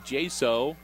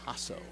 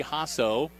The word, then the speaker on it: Jaso: it second in eight oh I'm being told that it's pronounced ah so okay well I'm well the field announcer made the same mistake as I did anyway so Brady ha so Addison Weaver the quarterback